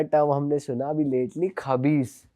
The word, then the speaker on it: खबीस: हमने सुना अभी लेटली, खबीस, कि वो जिन का बच्चा होता है। आप उसको किसी और तरीके से प्रोनाउंस करते हो? खईश। खईश। तो मैम इसके बारे में थोड़ी बात करते हैं।